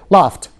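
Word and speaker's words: laughed: بعد كده اي دي لافت، طبعا بنطقها الاي دي بنطقها كانها ت لافت.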